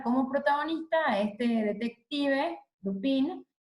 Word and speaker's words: Dupin: Si ustedes en francés podrían pronunciarlo mejor, algo así como Dupin, y quienes, ya les